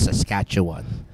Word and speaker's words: Saskatchewan: know that's a province in Canada British Columbia pronunciation it's a bit odd if you're not used to it okay so it's Saskatchewan yeah familiar love Vancouver Toronto other cities oh